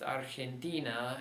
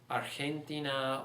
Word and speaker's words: Argentina: That's why it's pronounced Argentina and not Argentina or Argentina or Argentina. Those would be the other options.